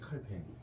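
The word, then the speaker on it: Calvin: 알아요 칼빈 이게 그 프랑스 말로는 어떻게 읽죠 칼뱅이라고 했지 칼뱅 칼뱅이라고 했는데 이렇게 쓰는데 칼핀 칼뱅이라고 읽어요 그 다음에 요트는 또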